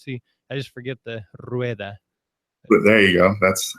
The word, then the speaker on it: Rueda: variations, but I think the worst and most commonly one is probably Rueda. Rueda. Rueda. They kind of break it down into 2 syllables, so it's kind of funny, but Gotcha.